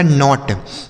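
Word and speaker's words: knot: आगे लिखा है के एन ओ टी। अब यहां पर भी देखिए के के साथ एन है ना? तो इसको भी हम साइलेंट करेंगे। किसको? के को। यानी के को नहीं पढ़ा जाएगा। तो के एन ओ टी इसे पढ़ा जाएगा नॉट। के एन ओ टी नॉट मतलब होता है गांठ।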